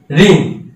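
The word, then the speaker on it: wrong: যেমন রিং, ডাব্লু আর আই এন জি, দেখো ডাবলার দিয়ে শুরু, যদি প্রথমে ডাবলার থাকে তাহলে ডাবলের উচ্চারণ হবে না, ডাবলের উচ্চারণ হবে না।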